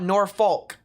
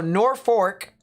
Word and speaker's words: North Fork: kaylee with the two says it's north fork not nor folk all right so nor fork that's uh how they